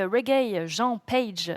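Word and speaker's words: Regé-Jean Page: Euh on a aussi Reg Jean Page, c'est comme ça que ça se prononce.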